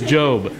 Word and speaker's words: Job: job go there cuz your head's just mispronouncing it it is job and we're going to